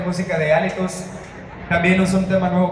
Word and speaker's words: Hálitus: Están disponibles para descargar completamente gratis desde SoundCloud, nomás poniendo el nombre del grupo, Alitus, con H al principio y acento en la A, y de inmediato van